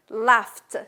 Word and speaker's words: laughed: I laughed. See, I laughed. The GH here is silent and it's pronounced T.